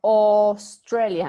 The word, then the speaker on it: Australia: los países no eh Australia se pronuncia Australia en lugar de la a póngale la o entonces Andy Está de